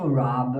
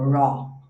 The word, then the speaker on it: rob: Aqui vamos prestar atenção na pronúncia do rob, ok? Pra gente, quando a gente vê o, a tendência é a gente fazer assim, ó, raw. Então, você vai abrir um pouco mais a boca, e olha a energia que ele pede aqui.